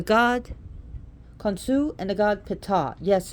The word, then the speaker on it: Ptah: Some people have trouble differentiating the god Khonsu and the god Ptah. Yes, it's pronounced Ptah, P-T-A-H. It's not Ta, but Ptah.